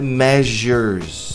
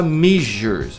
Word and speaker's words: measures: Cuidado com a pronúncia de medidas. A pronúncia é measures. Tem muita gente que fala measures. Measure parece outra coisa, né?